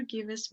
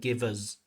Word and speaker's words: gives: Notice this pronunciation of gives. So the ver and the z should be connected there. Gives the vz without any extra syllable without any extra vowel sound. Gives. The candidate said give us givers. Just notice it again.